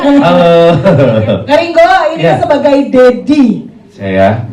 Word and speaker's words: Dedy: Ini sebagai Dedy Saya. Kalau e Ded kan tulisannya D I ya. Cuman kan kalau secara pronunciation itu kayak daddy in English.